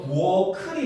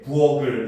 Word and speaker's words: 부엌을: 부엌을 같은 경우도 부엌클이 맞아요. 알겠죠? 근데 학생들 자꾸 부엌에, 부엌을 이렇게 발음하잖아요. 그렇지? 이런 거는 잘못된 발음이에요. 알겠습니까? 그래서 부엌해, 부엌클 이렇게 발음해야 됩니다.